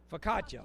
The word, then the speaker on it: Focaccia: Focaccia. I'm sorry. Okay, cinnamon roll focaccia bread. And it is with icing in 11x9 foil pan from Mike and Tara Wilson with Downtown Paris Association. Cinnamon roll focaccia bread.